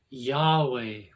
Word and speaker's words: Yahweh: Spanish y pronounced y called the tetragram is pronounced Yahweh which is the Tetra tetragramaton tetr tetti tet